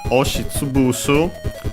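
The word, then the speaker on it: 押し潰す: And so, oshitsubusu, actually the compound is accented, despite the two verbs being unaccented, so be careful.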